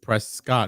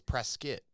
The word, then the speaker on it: Prescott: pronounced prescott not prescott it's pronounced prescott like a biscuit prescott oh wow cause it's spelled no i think press scott right like prescott i think no it's press skit talk to people they'll